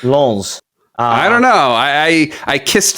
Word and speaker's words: Lens: You have to add the S at the end. It's Lons.